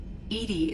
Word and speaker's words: EDI: Why are you named EDI? EDI is the phonetic pronunciation of EDI.